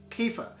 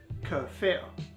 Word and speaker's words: kefir: and notice there are some people online who pronounced it as kefir but it's not the traditional way of pronouncing the work of there is kur fear what dairy milk kefir is is a fermented